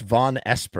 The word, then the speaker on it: Vonesper: I always say Vonesper. It's Vonesper. I mean, it's a made up name, so it's really no way to say it.